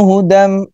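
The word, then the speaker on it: هدى: Hudan, asalnya hudan, ditulisnya hudan mir rabbihim, dibacanya idgham ya, idgham. Jadi tanwinnya masuk pada huruf mim. Hudam.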